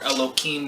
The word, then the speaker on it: Elohim: So these are the 7 artisans, or the 7 Elohim, or Elokime, that we said we were going to pronounce it as, because now we're using it together as a spiritual group.